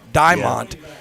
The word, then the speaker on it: Diamond: we said that correctly i think i was saying diamond but it's like diamond but diment and i think he's